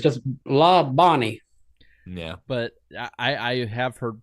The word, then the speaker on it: Labonte: You can always tell when someone started watching NASCAR by how they pronounce Bobby and Terry Labonte's last name. It's like La Bonnie. I've heard it Labonte as well.